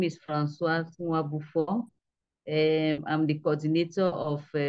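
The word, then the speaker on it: Françoise: The C is always pronounced as an F. So my name is Francoise Nwabufo.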